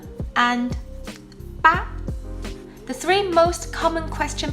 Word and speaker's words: 吧: Like all Mandarin particles, these are pronounced in neutral tone, which should be light and quick.